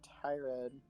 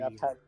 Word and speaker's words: Tyrion: I feel like whenever Homer talked to Tyrod, oh, God, sorry, Tyrion. You're Tyr- good. It's three syllables.